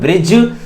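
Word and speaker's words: bridge: यहां पर D silent है, साइलेंट मतलब डी को बोला नहीं जाता है, यहां पर डी को बोला नहीं जाता है, तो ये हो जाएगा सिर्फ ब्रिज।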